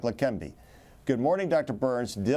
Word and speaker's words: Leqembi: and he has spent decades researching drugs like La Canby good morning Dr Burns did I pronounce it correctly yes they can be yes